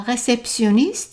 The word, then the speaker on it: réceptionniste: And there is no sh sound, just s.